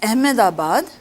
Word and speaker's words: Ahmedabad: place so this was at amdabaad some pronounce it as ahmedabad as long as you